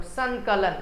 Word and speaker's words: संकलन: संकलन, न का उच्चारण करिएगा।